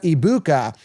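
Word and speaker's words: Egbuka: But, uh, my first one's Gabuka. Now, first of all, his name pronunciation because they're calling him Iika Ibuka. They're kind of just ignoring the G. I have a problem with that.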